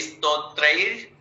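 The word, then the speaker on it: स्तोत्रैः: स्तोत्रैर स्तोत्रे ई का उच्चारण ना करें, कोशिश करें कि हम ई ना बोलें, हाफ से शुरू करें।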